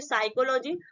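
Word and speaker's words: psychology: pneumonia ठीक next exam पहले जब भी पी होता है तो पी क्या होता है साइलेंट होता है और एस से पहले आपका पी आया है तो इसको हम क्या बोलेंगे साइकोलॉजी उसके बाद देखिए जो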